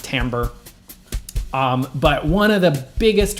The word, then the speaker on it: timbre: It's spelled like timber, but it's pronounced timbre.